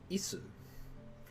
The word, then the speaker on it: 椅子: Isu. Chair? Isu's chair? 椅子 It's like the word is in English, but it's not. It's isu.